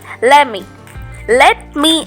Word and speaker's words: let me: Let me அப்படின்னு நம்ம pronounce பண்ணக்கூடாதுங்க. let me D pronounce பண்ணும்போது சைலண்டாக தான் இருக்கணும்.